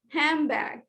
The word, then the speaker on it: handbag: is here okay and some of words have uh something like assimilation when i say the word handbag handbag while repeating the word i'm